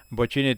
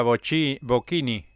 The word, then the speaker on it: Bochini: Bochini también se recordaba porque Víctor Hugo le decía, "La lleva Boquini, la lleva Bini y